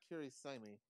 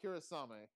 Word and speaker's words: Kirisame: Marissa Kirisami. Como? Kirisami? Yeah, Kirisami. Marissa Kirisame. Oh, Kirisame. That sounds right.